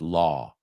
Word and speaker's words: law: It's not low, it's law.